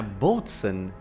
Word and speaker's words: boatswain: Yeah, boatswain. It's a very weird way of pronouncing this word, boatswain.